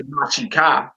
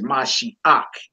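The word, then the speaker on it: משיח: it's pronounced ak and not ka. So we don't say Mashika, it's Mashiach.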